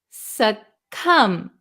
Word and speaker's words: succumb: Okay, so this word is pronounced succumb. There is no B sound. Succumb, succumb, succumb. The B is silent.